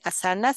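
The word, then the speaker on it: āsana: el nombre de asanas se tilda siempre en sánscrito la la la primera letra Entonces no se dice asanas sino asanas pero pasa que nosotros necesitamos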